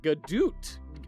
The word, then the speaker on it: Godot: So, I don't know about you, but I pronounce it Godot.